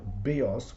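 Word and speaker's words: βίος: Bios with the accent on the iota, I think means life, and bios with the accent on the last syllable means a bow, as in like a bow and arrow.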